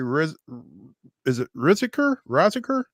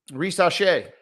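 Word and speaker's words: Risacher: Zachary Riziker? Risache. Oh, see, he is French after all.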